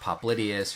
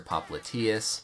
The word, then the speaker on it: popliteus: functions in the knee you'll hear pronounced popliteus or popliteus and in this video